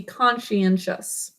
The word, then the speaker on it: conscientious: so for this word we're gonna keep con she in but drop this part and we're gonna add a suffix shus with tall do you hear that so please pick